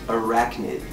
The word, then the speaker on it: arachnid: Well, first of all, little Sammy is pronounced arachnid with a hard C.